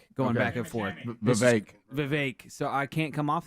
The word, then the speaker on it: Vivek: you're going to hear Chris Christie versus uh vivec going back and forth Vivek so I can't come off that wow okay